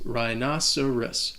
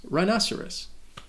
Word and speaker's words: rhinoceros: can be confusing because the h is silent and the c sounds like an s rhinoceros rhinoceros i want a rhinoceros